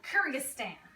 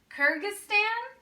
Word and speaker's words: Kyrgyzstan: like crazy names I'll tell you how to pronounce them Kazakhstan Uzbekistan Turkmenistan Tajikistan and Kyrgyzstan all right I'm gonna need you to zoom